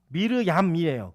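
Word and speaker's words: מרים: 히브리어로는 이 마리아를 어떻게 발음했죠? 예, 미르얌이에요. 근데 이 미르얌은 한글 성경에 미리암이라고 되어 있어요.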